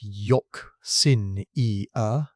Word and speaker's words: euxinia: Anoxia, which is water with the oxygen gone, and euxinia, pronounced yock-sin-e-uh, which is water where the oxygen is gone and hydrogen sulfide has taken its place.